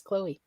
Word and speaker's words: Chloe: And Spence says she has the E sound at the end. So it is Chloe.